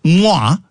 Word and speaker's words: mwah: Mwah. M W Ah. And it rhymes with ooh la.